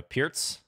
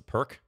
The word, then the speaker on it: Pirc: okay and we have a pierce PCH also known as the perk in some circles the least correct pronunciation but okay Knight F6